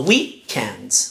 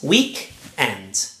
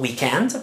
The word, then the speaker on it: weekend: The stress is on the first syllable. So weekend, weekend, not weekend, but weekend.